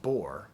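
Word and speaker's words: Бор: So like my wife comes from a town called Bor, but it's spelled B-O-P. Like, you know, the R is a P in Cyrillic.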